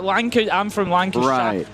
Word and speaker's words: Lancashire: Just like Shia like Lanc I'm from Lancash. Lancashire. The North Americans tend to pronounce the sh um that's more of a sh.